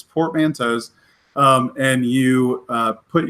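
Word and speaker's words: Portmanteau: credit where it's due she put up a video that that pretty much said this is how you say this it's portmantos um and you uh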